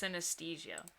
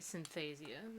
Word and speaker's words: synesthesia: It's pronounced synesthesia. What? Synesthesia? I hate that. Synesthesia. Are you Synesthesia. I'm gonna keep calling it synthesia.